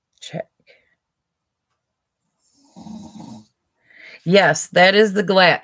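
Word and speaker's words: Czech: it is yes z z Tech CZ Republic pronounced check yes that is the glass yes you are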